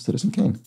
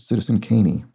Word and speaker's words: Citizen Kane: It's just a punny way to refer to the silent E at the end of Citizen Kane. Not pronounced Citizen Kaney.